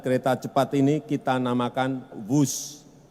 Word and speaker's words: Whoosh: operasi optimal sistem hebat sekali lagi w h o o shh tapi membacanya wus kereta cepat Jakarta Bandung